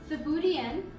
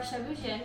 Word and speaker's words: Thieboudienne: and we are cooking a dish called sabudian or shibujin we found uh several different pronunciations when we were looking it up so we wanted to make sure we brought in both um is the french pronunciation and the booty is is the senegalese pronunciation so let's get started